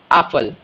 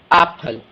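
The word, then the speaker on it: Apfel: yogurt यो के pronunciation एप्पल को आफल आफल यहां आफल बोलेंगे जूस को फफ्ट फफ्ट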